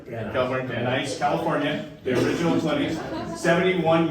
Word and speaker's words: Van Nuys: California, Van Nuys, California, the original clinic, 71 years ago.